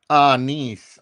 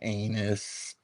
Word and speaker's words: anise: Pronounced anise. Okay, Serious B. Okay, I don't need to be fact-checked up in here. Everybody knows I wasn't saying anus. Anise.